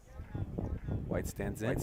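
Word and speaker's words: Wight: White stands in. We got to assume they're brothers, right? The Whites. It's spelled W-I-G-H-T for those that are confused.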